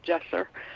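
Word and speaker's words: Cesur: what's your dog's name it's spelled like Cesar sort of but it's a Turkish name because he's a Turkish Kangal dog and it's gesture yeah you say it Jess sir yes No yeah and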